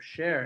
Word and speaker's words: Cher: I wondered about that even though it's spelled c-h-e-r probably s-h-a-e-r might have been gone but that is I thought it was probably about share it is it is